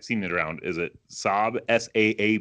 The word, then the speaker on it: Saab: I don't know how this company is is pronounced I've seen it around is it Saab sa a B yeah yeah Jets yeah so